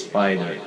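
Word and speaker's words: Spyder: The spelling is S-P-Y-D-E-R, right? That's how it's spelled, okay? It's Spider. So this is I don't know if it's a Filipino brand or a foreign brand.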